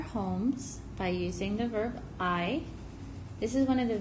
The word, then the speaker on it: hay: six different ways but in this case I which it looks like hey but we pronounce it like the eye the eyes you use to see it's going to mean